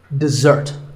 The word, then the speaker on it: dessert: with a z sound we stress the second syllable dessert this word refers to